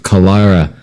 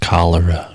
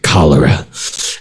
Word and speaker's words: cholera: of them died of kalara a Calera and some of them were still buried for Brown Creek he's pronounced cholera Roman oh that's right that is right cholera 1890 rumors surfaced a